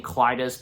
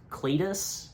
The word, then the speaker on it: Cletus: I because I feel like I've heard of like maybe one or two people like pronouncing his name Cletus, but it's Cletus.